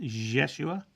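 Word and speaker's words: Yeshua: pronunciation of i-e-s-u-sua and the pronunciation is a is a j and a y mixed jeshua um is what I remembered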